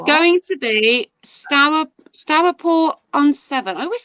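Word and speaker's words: Stourport-on-Severn: It's going to be Stourport on 7. I always say it wrong. Yeah. Stourport on 7.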